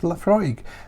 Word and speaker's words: Laphroaig: mind seeing so themselves laphroaig pronounced laphroaig is an all malt